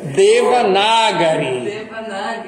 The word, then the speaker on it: Devanagari: E a língua Devanagari, como é que fala? Devanagari. Não é Devanagari, também é a mesma coisa. Devanagari.